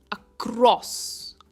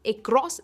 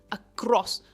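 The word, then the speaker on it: across: Again जो ए है वो का प्रोनाउंसिएशन लेता है. इट इज अक्रॉस, नॉट अक्रॉस, इट इज अक्रॉस और क्रॉस पर इसका स्ट्रेस है.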